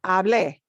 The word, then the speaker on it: hablé: That means we punch that e sound at the end. So, por ejemplo, hablar becomes hablé.